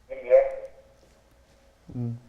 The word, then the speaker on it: Guilherme: My first name is Guilherme. How do you say it? Guilherme. Spell it out for me.